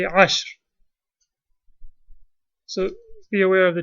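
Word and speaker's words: عشر: And one other note, the word ashara, if it has a ta, you will pronounce it asharatun. If it has no ta, you won't say ashar, you will say ashr.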